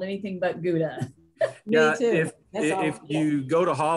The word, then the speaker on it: Gouda: Gouda. Gouda. Yep. Same. Okay, do y'all know in Dutch, the G is, it's called a glottal sound. And so you actually pronounce that gouda, like you're going to spit.